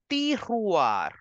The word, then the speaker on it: tiroir: You will say drawer in French as le tiroir. The way you are pronouncing mirror, miroir, just replace the sound of m with the and it becomes drawer. Le tiroir.